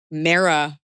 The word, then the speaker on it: Mea: And then she said, and I said it right, "You can use my name, but only if you say it right. Mea pronounced like Sarah." Mara, you are our hero.